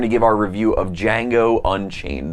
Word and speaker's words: Django: And on Thursday, we're going to give our review of Django Unchained. The D is silent.